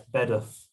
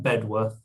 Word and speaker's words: Bedworth: You pronounced it wrong, by the way. It's Bedworth. If you're from Bedworth, they pronounce it Bedworth.